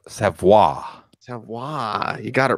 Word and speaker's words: Savoy: What how did you pronounce Savoy. Savoy.